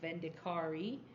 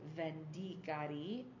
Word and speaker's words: Vendicari: a long long time I was saying vendicari but it is vendar uh and my Italian teacher laughed at me when I said where I had gone and she's like no no vendar see vendar okay vendar